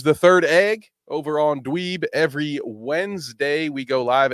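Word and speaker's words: DDweeb: our YouTube channel that's dweeb with two D's at the start the first D is silent don't worry about it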